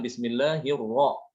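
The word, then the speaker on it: بسم الله الرحمن الرحيم: Ro, ru, rubama, ar-rahman itu dibaca tebal, ro, bukan ra ya, tapi ro. Makanya ketika mengucapkan bismillahirrahmanirrahim, bukan bismillahirrahman. Memang tulisannya itu pakai a ya. Di dalam Latin itu kan tulisannya bismillahirrahmanirrahim, tapi bacanya bukan demikian. Baca harus dibaca tebal. Bismillahirrahmanirrahim. Bukan rahim tapi rohim ya.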